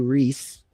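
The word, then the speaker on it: Rhys: And um Matthew Reese um which you would never pronounce it that way if you saw the spelling.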